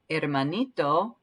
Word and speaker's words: hermanito: a q u sound hermanito remember um that we don't have an h sound at the beginning of the word all right let's try